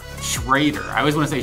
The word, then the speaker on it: Schreuder: Schreuder. Schreuder.